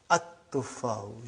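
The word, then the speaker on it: التفاح: But now your mind knows that is a sun letter, so you will pronounce as at-tufahu. You will put a shadda anta.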